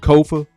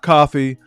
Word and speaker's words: Kofa: I am your host, Kofa, Kofa, not coffee, not, not kofi, or any variation thereof. Kofa rhymes with sofa.